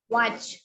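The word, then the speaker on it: watch: பாருங்க இது எப்படி படிப்பீங்க வாட்ச் வாட்ச் நல்லா பார்த்தா தெரியுது டி சைலென்ட் இது அதே மாதிரிதான் வாட்ச்க்கு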